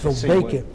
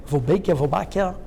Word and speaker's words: Wolbachia: Like I mentioned one of these Wolbachia, I don't know the name in English, how to pronounce, it's Wolbachia. Wolbachia.